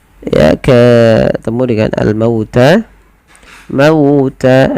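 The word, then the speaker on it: الْمَوْتَ: Mauta lembutkan pada lafal mauta karena di sini ada bacaan lin yang dimana fathah bertemu dengan huruf waw, yang mana waw termasuk huruf lin dan juga huruf mat.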